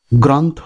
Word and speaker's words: গ্রন্থ: সে কারণে প্রথম শব্দটির শুদ্ধ উচ্চারণ হবে গ্রন্থ, গ্রন্থ নয়, গ্রন্থ।